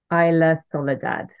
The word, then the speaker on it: Isla Soledad: So please, will you please pronounce it? Isla Soledad.